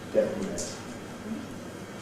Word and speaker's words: detonate: Notice that in this in “detonate” has to be syllabic. This word still has three syllables. . And it wouldn’t be possible in this word to use a plain , saying . That’s not possible.